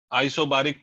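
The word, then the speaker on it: isobaric: Next process, आइसोबारिक process या बेरिक process, अलग लोग अलग प्रोनाउंसिएशन।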